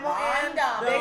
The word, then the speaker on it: Montgomery: Say it with me now. Montgomery. Montgomery. Three syllables.